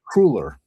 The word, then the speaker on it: cruller: It's a double L. You think it would be obvious it's double L therefore it's a short U but most people say cruller which all A cruller.